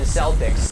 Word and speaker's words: Celtic: of the Boston fucking Celtics. Here in Ireland, except for the initial soft say in sports teams' names, like the Celtics, Celtic with a hard C or K is the standard, that would have been pretty embarrassing.